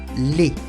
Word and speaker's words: les: En francés siempre va a ser le, L-E-S, se pronuncia le, como si fuera una E con acento agudo, le.